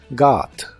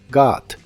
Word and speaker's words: got: el pasado es got la o de esta palabra se pronuncia como una a profunda got got y se usa en